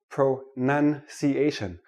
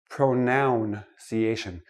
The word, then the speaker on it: pronunciation: we're looking at pronunciation let me start with this word pro none see asian not pronoun see asian it is not a pronoun a pronoun is I me my mind pronunciation is how we speak English so I'm going to